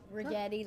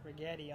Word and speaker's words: Regetti: Regetti like spaghetti. Regetti.